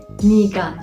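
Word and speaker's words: 네가: neden olabiliyor o yüzden Koreliler sen derken nega yerine niga şeklinde de söylemeyi tercih etmişler o yüzden konuşma dilinde sen diye bahsederken niga olarak da bahsedebiliriz bu sadece konuşurken bu şekilde telaffuz ederken böyle yazım dilinde ise her zaman nega şeklinde e harfiyle yazılmalıdır bir de noga var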